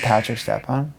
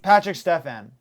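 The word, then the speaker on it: Patrik Štefan: Is it Patrick Stepan? Patrick Stefan. Not only did you get his name wrong, that's not him.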